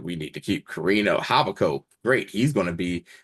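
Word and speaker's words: Javicco: H first of all we finally figured out how to pronounce this man's name havaco yeah ja jav Co that's that was a soft Jade the entire time soft J so H so havaco you know Vala pulls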